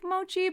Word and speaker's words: Muqi: Yeah, it's pronounced like Mochi, but it's spelled Muqi.